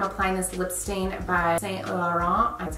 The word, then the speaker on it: Saint Laurent: of that I'm applying this lip stain by Saint Laurent that's how you say it this isn't a